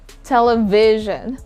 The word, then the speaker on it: television: If a word is an adjective or a noun and it has 4 syllables, we normally put the stress on the third syllable. Television, television. International, international.